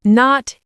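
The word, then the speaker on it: know: No. The K is silent. Say no.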